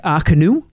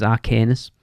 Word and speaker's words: Arcanus: Magic is Le Cirque Arcanu. Is apparently how you pronounce it, even though it looks like it says Arcanus.